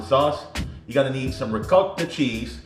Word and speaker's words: ricotta: You're gonna need some ricotta cheese. Hope I said that right. You know, a lot of times people get you didn't say it right, whatever. It's ricotta cheese.